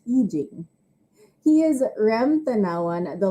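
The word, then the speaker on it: I Ching: ancient chinese divination text known as the yi jing or i-c-h-i-n-g still-pronounced eugene he is ram tanawan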